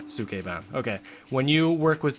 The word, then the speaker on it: Sukeban: Okay, because it's like a Japanese word, and I'm trying to pronounce it right. Right. Sukeban.